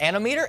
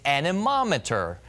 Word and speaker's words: anemometer: It's not anemometer, it's anemometer.